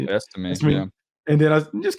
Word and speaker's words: Estime: Estime, yeah.